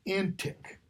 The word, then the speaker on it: antique: word antique jigs birthday it's pronounced antic like in this word if someone is in